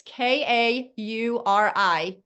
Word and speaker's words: Kauri: And everybody is asking, how do you pronounce his name? It's Kauri, Kari Thompson.